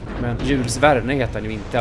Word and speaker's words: Jules Verne: Kylvärn brukar det på svenska i alla fall uttalas. Det går säkert att snofsa till det ännu mer på franska. Men Jules Verne heter den ju inte i alla fall.